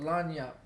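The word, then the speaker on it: lagniappe: but influenced from before there's a word in Louisiana that we call lanap which is spelled l a g n i a p p e and it means a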